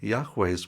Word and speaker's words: Yahweh: really want to be accurate it would be yahweh's Witnesses Yahweh Witnesses but they don't say that